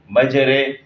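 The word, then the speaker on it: مجرها: اور ہم کرتے ہیں، میم جیم زبر مج را امالہ والی رے، مجرے، یہ ایک طریقہ ہے۔ دوسرا طریقہ اس کا یہ ہے کہ میم جیم زبر مج را ممالہ رے، مجرے ہا الف زبر ہا،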